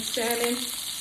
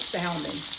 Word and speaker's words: salmon: Did you guys know that the L in salmon is not supposed to be pronounced? Some people know that, some people don't. They call it salmon, but it's really salmon.